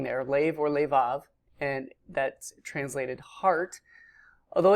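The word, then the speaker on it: לֵבָב: under this, so both of these are actually pronounced kol. In the upper left we have the word lev or levav. There's an alternate spelling there, lev or levav, and that's translated heart.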